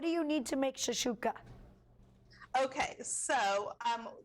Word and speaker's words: shakshuka: Is that how you say it? Shakshuka? Shakus? What? You can say it however you want. I like to pronounce it shakshuka.